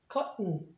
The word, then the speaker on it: cotton: 안 하니까 t하고 n 사이에 모음이 있는데 액센트가 없으면 마치 콧소리 그래서 cotton 이런 식으로 발음해 주시면 됩니다.